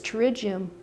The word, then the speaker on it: pterygium: I'd like to talk about a common growth on the eye called a pterygium, which is spelled with a silent P. The singular form of the word is pterygium, and the plural form of the word is pterygia.